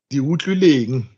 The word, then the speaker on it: Diutlileng: the seventh, that is Diutlileng. Oh, I tried to pronounce that name and I couldn't. How do you say it? Diutlileng. Diutlileng. Diutlileng. Diutlileng. Krileng. Oh, the TL is Kri.